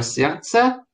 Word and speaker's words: сердце: Сердца, слово «сердце», непроизносимое согласное «д», не только, ну, многие ее на письме пропускают, потому что мы в речи ее не произносим.